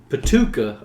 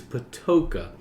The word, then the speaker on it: Patoka: I called him Patuka all this time, but it's Patoka. That pronounced like a toe.